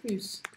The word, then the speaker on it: plus: J'en veux plus. Pronuncio esse S.